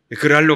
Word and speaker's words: 그랄: 발음을 잘했는데 지랄이 아니고 그랄입니다. 잘못하면 베리뿔이에요. 그랄로 갔습니다.